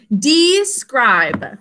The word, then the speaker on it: describe: coming out right okay describe two syllables first syllable e says its name in an open syllable second syllable sound out the phonograms with me five sounds i says its name because of a silent final e job number one okay